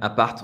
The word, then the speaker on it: appart: Ouais, ouais, appart. On va prononcer le petit T quand même dans appart.